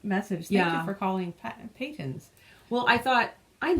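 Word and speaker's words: Patons: Not Pattons. Yeah, apparently there would be 2 T's if it was, and that's, I took linguistics all fine. in university, and I kind of always thought, well, Peyton's, because a short A would have another consonant after it, but whatever. Ugh. So say it however the hell you want, but I'm going to keep saying Peyton's and feel okay about it.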